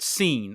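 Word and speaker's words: Sin: Uh in um we see that the in in cultures that that they've named the moon god seen which is spelled s i n but pronounced seen as if you you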